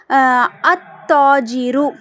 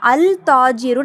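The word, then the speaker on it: التاجر: சோ இப்ப உதாரணத்துக்கு பாருங்களே இப்ப ஷம்சியாவுடைய ஒரு லெட்டர் என்ன தா இப்ப வந்து அத்தாஜிரு அப்படின்னு நான் எழுதுறேன். சோ இப்ப இங்க பாருங்க அல் தாஜிரு நம்ம வாசிக்க கூடாது.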